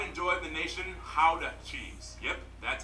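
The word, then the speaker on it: Gouda: and the pride and joy of the nation how to cheese yep that's how you pronounce it guys oh and keep in mind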